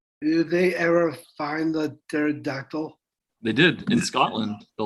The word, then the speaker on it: pterodactyl: right i always forget you smell pterodactyl with a silent p all right scientists